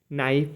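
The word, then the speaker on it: knife: है number seven है के साइलेंट एन से पहले के साइलेंट रहता है जैसे के एन आई एफ ई के एन आई एफ ई नाइफ मतलब चाकू के एन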